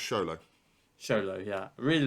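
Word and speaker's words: Xolo: Zolo. Is that his name? I think it's pronounced Sholo.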